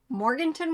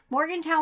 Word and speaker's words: Morgantown: up at um the Goodwill bins either in Morganton West Virginia but a lot of it Morgantown I say it wrong every single time I blame Robert Morgantown West Virginia and the Rochester New York bins